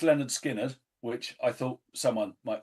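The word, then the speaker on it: Lynyrd Skynyrd: Pronounced Leonard Skinner, which I thought someone might choose.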